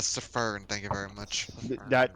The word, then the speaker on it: Pfheavy: You know, he says there's a silent F, but there might be a silent S in front of it too. My name is not Pfheavy, thank you very much.